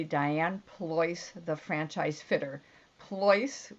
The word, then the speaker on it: Pleuss: Pleuss, which is not easy to A, pronounce, or B, spell, is P as in Peter, Leuss as in Sam.